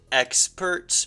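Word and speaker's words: X-Perts: Experts, but with a, spelled like with the letter X, like it's kind of like X-Men.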